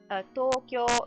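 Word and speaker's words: 東京: Tokyo both have long vowels, so it's technically 4 mora. It's 2 syllables, but 4 mora.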